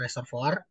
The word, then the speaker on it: reservoir: Yang pertama ini yang paling sering keluar ya, batuan yang kita sebut sebagai reservoir atau reservoir ya tulisannya ya, bacanya reservoir.